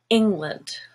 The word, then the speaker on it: England: So land is a kind of black sound, but England has a stress on ing, which is silver, and land becomes lund, just a schwa instead, England.